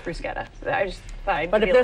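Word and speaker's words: bruschetta: excellent all right now you may hear this pronounced brushetta and chances are the people who make that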